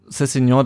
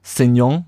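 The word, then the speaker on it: Sessegnon: Minute macht dann Cessignon das, oder wie Klaus Feldmann sagt, Cessignon, also ich bin mir ziemlich sicher, dass die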